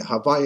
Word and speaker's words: Havayah: havaya the ineffable ineffable divine name of tetragram gramaton composed of the four letters and pronounced in conversation as hawfi havaya is backwards of hey